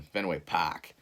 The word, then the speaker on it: Fenway: game at Fenway Park that's how they say it up there in Boston Fenway PAC and while I was there